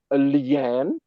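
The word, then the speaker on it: nian: kingdom the other phase lean n i a n pronounced at a third tone is the phase corresponding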